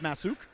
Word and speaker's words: Masuk: i believe it's pronounced masuk if i'm incorrect i know it's spelled s-u-k but i believe it's said s-o-o-k i guess that'd be